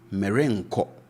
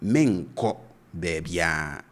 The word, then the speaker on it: merenko: And as you can see, if you are to pronounce this as it's written, you would say merenko, right? Merenko bebia. And you will not be wrong to say this as that. Merenko bebia, that's fine. But you should note that on the grounds, we typically pronounce such constructions as, so in this case, for example, we would say menko bebia.